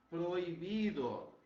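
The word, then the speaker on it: prohibido: Proibido. O som é o mesmo nosso, o significado é o mesmo, mas a letra H não se pronuncia.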